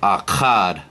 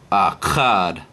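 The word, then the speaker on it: אחד: one the number one it's pronounced akkad akad next is a b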